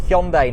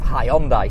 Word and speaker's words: Hyundai: right I'm given and they want us to pronounce it Hyundai now I believe that is closer to the original uh Korean pronunciation interestingly when Hyandai first came into the market they actually launched an advertising campaign hi from hyi actually kind of instructed you to say it hondi so hyai you brought it